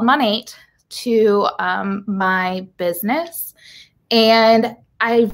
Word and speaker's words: Monat: So let's talk a little bit about Monat.